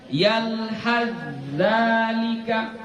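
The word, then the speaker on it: يلهث ذلك: Tanya nggak dibaca lagi. Ya, tanya kita masukkan ke huruf za. Jadi dibaca yalhadzalika. Ya, jangan dibaca yalhadzalika, salah.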